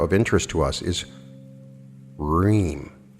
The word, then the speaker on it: Hreem: The fourth and final Bija mantra of interest to us is Hreem, spelled H-R-I-M, but pronounced R-H-E-E-M. Again, the proper intonation is needed to stretch out the middle part of the mantra during chanting. Hreem.